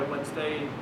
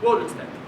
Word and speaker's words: Wednesday: If you've ever wondered why Wednesday is not pronounced, it should be like Wednesday. Woden's Day.